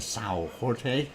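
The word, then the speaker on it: São Jorge: villages on Samuel George if you want to pronounce it in Portuguese it's a Sao Jorte anyway way and you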